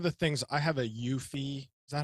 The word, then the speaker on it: Eufy: So The one of the things I have a Eufy. Is that how it's pronounced? EUFI, Eufy, EUFY, yeah, Eufy.